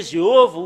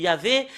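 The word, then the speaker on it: יהוה: nom de faux dieu ça a changé jéov il y avait normalement ça doit être yava qui doiv prononcer et et après s'ils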